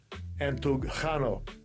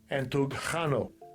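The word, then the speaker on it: ἐντυγχάνω: Entugchano. I'm going to mess that one up. Let's hear it. Strong's G1793. Entugchano. Entugchano. Entugchano.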